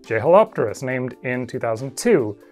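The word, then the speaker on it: Jeholopterus: way more recently, like Jehelopterus, named in 2002, which I guess should actually be pronounced Yehelopterus?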